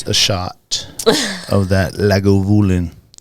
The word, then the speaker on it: Lagavulin: a shot of that Lagavulin.